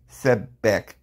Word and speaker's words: Sebek: So it says Sebek, pronounced Sebek, known as Sebethant in Thay and as Sebakar in Unther.